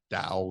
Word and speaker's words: Tao: Tao, Tao is how it's pronounced.